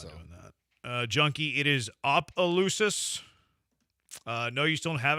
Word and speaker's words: Opelousas: How do you spell it again? I don't know. Opelousas. Yeah, there's 100 different spellings of Opelousas right now.